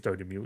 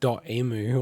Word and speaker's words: Dotemu: Two Player, published by, you say Dotemu. Is it? It is Dotemu, is it? Yeah, that's how you say it, yeah. Yeah, so published by them. Because I always said it as .emu or something like that. Yeah, And then I found out, no, it's actually a French pronunciation.